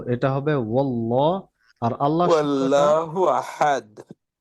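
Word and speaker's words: اللَّهُ: আল্লাহু অনেক জায়গায় অনেকে বলে তো এটা হবে ওল্লাহ আর আল্লাহু আহাদ আল্লাহ শব্দটা পাতলা না মোটা হবে মোটা মোটা আওয়াজ হবে।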